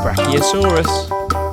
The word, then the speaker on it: Brachiosaurus: Brachiosaurus.